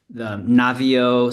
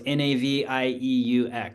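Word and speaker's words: Naviaux: not extremely familiar with it, but yeah, it's the Navio. It's Navieux. My French pronunciation is horrible. N And NAV. What again? NAV IEUX. Navia. Okay.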